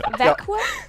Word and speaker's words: Växjö: And thank you for saying the name of this place, because I still can't pronounce it. One more time. Can you say one more? Växjö?